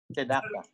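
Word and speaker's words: צדקה: Tzedaka? Tzedaka? Tzedaka. Tzedaka. Tzedaka. Tzedaka. Yeah. Hebrew typically is going quick to the end.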